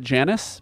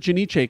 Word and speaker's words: Janice: time I'm very excited see when I'm actually being serious I pronounce it Janice because that's like an actual us name you pronounce it Janice and I pronounce it janich cuz that's the Italian pronunciation you know uh zapia